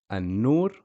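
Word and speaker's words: النور: a sun letter so you skip the pronunciation of the Lamb you just say for example anur or if it's a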